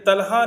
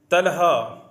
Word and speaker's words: طلحہ: امین صاحب پوچھتے ہیں کہ طلحہ نام کیسا ہے اور اس کے کیا معنی ہیں؟ طلحہ طوا کے ساتھ عربی کا لفظ ہے اور